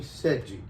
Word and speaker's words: Sedghi: i was saying that my name is seji i also i know that it's a little difficult to pronounce it but anyway i'm sergi